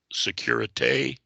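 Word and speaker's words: sécurité: procedure as urgent use the safety signal pronounced security and they'll say security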